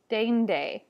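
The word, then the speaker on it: deinde: A, like in rain or main, and we see it in the word dende. It still might sound like both vowels are being pronounced, but they really do come across as one, dende. The next one is eu.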